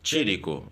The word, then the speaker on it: Chérico: Pois bem, então hoje, Piero Chérico, da Tírico. Tírico. Tírico, Tírico. Tírico, italiano. Escreve-se Chérico, né? Mas a pronúncia italiana é Tírico.